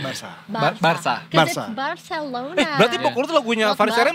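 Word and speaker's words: Barça: saya Sunda Wili jengsemping bukan Barca bacanya Barsa Barca Barcelona eh berarti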